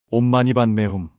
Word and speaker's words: 옴마니반메훔: 온마니반매훔. 이것은 티베트어로 온마니 파드메훔이라고 발음되는데 한글로는 옴마니반매훔으로 널리 알려져 있습니다.